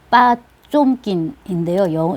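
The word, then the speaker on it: Потёмкин: 근데 이제 뭐 10월이라든지 그 혁명요, 그 다음에 오데사의 계단으로 굉장히 유명한 전함 포텐킨, 빠쫌킨인데요. 러시아어 발음으로는 전함 포텐킨, 그 수병들이 반란을 일으킨 거예요.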